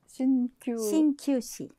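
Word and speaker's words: 鍼灸師: 아까 친구사가 일본 단어로 신큐시. 신큐시. 네.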